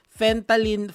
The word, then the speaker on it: fentanyl: Nagkukwentuhan kami about sa fentanyl. How do you pronounce it, Doc?